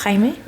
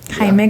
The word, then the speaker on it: Jaime: But his name is Jamie, but in Spanish it's Jaime. Jaime. Jaime. Yes, Jaime.